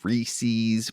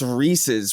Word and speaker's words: Reese's: so you can pronounce reese's wrong whereas like rhys is a name and pieces is a word and they rhyme for that reason so clear like i've